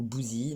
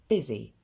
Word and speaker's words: busy: Et là, vous notez la prononciation de busy qui n'est pas busy ou bousy, mais bien busy.